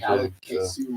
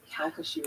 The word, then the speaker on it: Calcasieu: How do you say that? Like the locals. That's Calcasieu Lake Oh, near Hackberry, Louisiana.